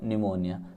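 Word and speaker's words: pneumonia: तो देखिए आंसर क्या लिखेंगे, Johnsy was suffering from निमोनिया, P silent है, ठीक है ना, तो निमोनिया से वो सफ़र कर रही थी।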